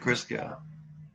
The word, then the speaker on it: Christgau: I also was reminded from something I was looking at today that a music critic, how does he pronounce his name, Sparrow? Robert Christgau.